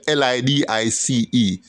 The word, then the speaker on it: Lidice: Now, Lidice is a Serbo-Croat word, but it's pronounced it's spelled L-I-D-I-C-E. L-I-D-I-C-E. Look it up. Lidice.